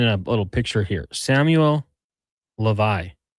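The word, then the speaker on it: Hlavaj: Samuel Levi. That's not how it's spelled, but per the NHL pronunciation guide, Samuel Levi set a record, a Slovak record.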